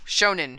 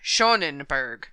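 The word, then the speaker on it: Schönenberg: Johan V Berg oh Shonen shenberg I think that's better I like it was appointed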